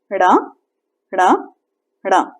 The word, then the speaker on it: ण: ण को बोलने के लिए हमें अपनी जबान कुछ पीछे ले जाके आगे लानी पड़ती है। ण ण 3 बार बोलें। ण ण ण। ये थोड़ी सी नेजल साउंड होती है, ठीक है।